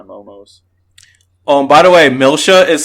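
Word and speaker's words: Milcia: to protect my momos oh by the way milsha is spelled m-i-l-c-i-a i think that was quite odd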